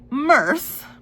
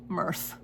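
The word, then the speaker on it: Myrthe: So Mirthth is the name of the girl is the name of the Wistress, but it's spelled M Y R T H E. Mirthth.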